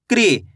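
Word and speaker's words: कृ: री की मात्रा है, तो का को कैसे पढ़ेंगे? क्री। कैसे पढ़ेंगे? क्री। आपको करने के री का उच्चारण निकालना है। ये री की मात्रा, ये री का में लगी तो क्री।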